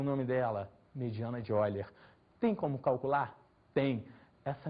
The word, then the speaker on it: Euler: Escreve-se Euler, mas pronuncia-se Euler. Era um matemático alemão.